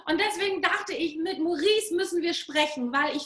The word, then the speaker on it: Maurice: Nee, also geschrieben wird es Maurice, also M-A-U und Maurice ausgesprochen.